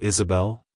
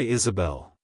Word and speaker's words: Isabelle: to pronounce it correctly emphasize the first syllable is and the last syllable Bell avoid pronounce sing the as a like hello Isabelle goodbye Isabelle if you found the